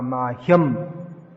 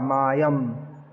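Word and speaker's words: मह्यम्: Shri Chaitanya Mano Bhishtam Sthapitam Yena Bhutale Swayam Rupa Kada Mahyam. That ha has to be not Kada Mayam. Mahyam. The tendency in English is to drop the sound H, but it should be pronounced.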